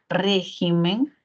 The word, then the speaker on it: régimen: cierto en el singular la sílaba tónica estaría aquí en re regimen régimen se clasificaría como una palabra esdrújula Y entonces la la